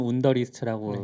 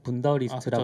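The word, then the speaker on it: Wunderlist: 독일 분이 만드셔서 이렇게 영어로는 운더리스트라고 네. 되어 있지만 분더리스트라고 아, 그쵸. 읽어야 되나 독일에서 봐요. 만드니까.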